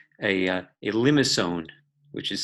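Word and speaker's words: limaçon: has its own name and its called a limb asone which is spelled L I am AC o n but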